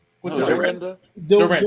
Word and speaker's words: Dorinda: How you pronounce her name? What Oh, you Dorinda. Dorinda. Dorita.